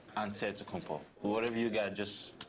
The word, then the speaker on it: Antetokounmpo: with a D, so it's Antetokounmpo. But in the Greek way, you say with the NT, like Antetokounmpo.